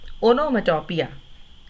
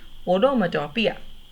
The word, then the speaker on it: onomatopoeia: We have now reached a very simple poetic device called onomatopoeia. P-O-E-A को पोइया नहीं बोलना. Speak the words with me please. Onomatopoeia. I repeat, onomatopoeia.